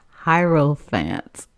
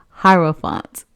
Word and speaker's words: Hierophant: But just so that I wouldn't look ignorant out here, I actually looked it up, and it's supposed to be pronounced Hierophant. Hierophant.